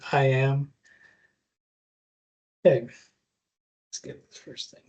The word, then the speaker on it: AIM: I know it says AIM, but we usually pronounce it IM.